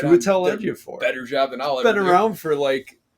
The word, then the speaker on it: Chiwetel Ejiofor: I'm glad you took the bullet of trying to pronounce that name right. Chiwetel Ejiofor.